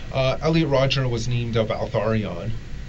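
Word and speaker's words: Valtharion: Uh Elliot Roger was named Valarion. Valarion. Yes. How do you spell that?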